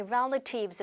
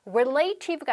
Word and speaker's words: relative: I'm here to visit my relatives 라고 해서 자, 우리 친척이라고 하는 단어도 많이 아시는데 발음도 이것도 잘못하는 경우가 많으시더라고요. relative가 아니고요. 발음할게요. relative. 일강세 relative.